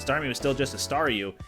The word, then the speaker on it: Staryu: was still just a Staryu, I could never pronounce its name right. It always ended up sounding like saw you.